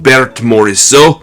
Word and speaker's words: Berthe Morisot: of her time was ber the morat or as they would say in French Bert moreso but I'm not French so I mispronounce it but leave your comments